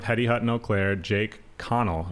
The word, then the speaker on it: Connel: the owner of hedy hutton eau claire jake connell right that's how you pronounce it yes sir and off camera who's